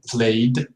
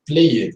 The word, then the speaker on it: played: Allowed, played, and followed. Never say allowed or played or followed. No, it is not an extra syllable. It is not longer. It is shorter.